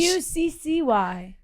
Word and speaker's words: Pucci: Pucci. No, it's like Gucci just with a P.